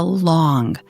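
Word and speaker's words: 龙: It is a long, the Chinese word pronounced simply as the English word long.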